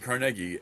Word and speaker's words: Carnegie: So, Andrew Carnegie. Oh yeah. But the town that that they the town that's named after him is called Carnegi with the second syllable.